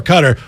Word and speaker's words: Qatar: it the correct way so the real way is Qatar a cutter cutter cutter let's just cut her